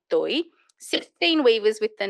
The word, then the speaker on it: Toi: name carried this appellation Toi. I've spelt it here TAI, but actually the pronunciation when you've seen it written in Bangla is Toi, TOI.